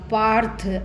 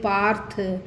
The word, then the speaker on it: पार्थ: मैंने आपको बताया ये ऊपर वाला जो र है ये इससे पहले वाले वर्ण के बाद बोला जाएगा। पार्थ आ के बाद र है ना, तो थ के ऊपर है, लेकिन हम आ के बाद बोलेंगे पार्थ नई तत्वयुपपद्यते।